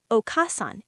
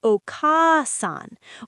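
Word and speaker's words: お母さん: Mother the o a is held longer, not okassan. It's okasan or sensei.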